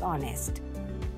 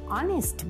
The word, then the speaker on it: honest: even he is an honest boy now remember an honest boy because here also h is silent and you have the vowel sound now the next quality